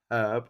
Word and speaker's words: herb: a hotel and hotel remnant of a form of pronunciation which is preserved for the US herb. Oh yeah they say herb instead of herb.